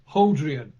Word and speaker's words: Hodrien: Or it should be pronounced Hodrien.